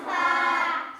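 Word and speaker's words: ف: নাম ফা তার নাম ফা ফা হাসি মুখে দাঁতে ঠোঁটে আদায় হবে ফা হাসি মুখে দাঁতে ঠোঁটে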